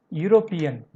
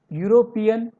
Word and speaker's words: European: Let us see the next example, European. In this word starts with E. E seems like a vowel sound, but its pronunciation is like a consonant sound. U. European.